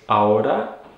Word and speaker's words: ahora: inner ears so all you would say is aura and just make sure that h and aorta is silent it's not ahora and now talking about